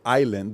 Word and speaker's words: island: always say the D I can't pronounce the word Island because at that time the Big Show was Gilligan's Island so I would say Island I would ask the teacher why is there an S here we don't need an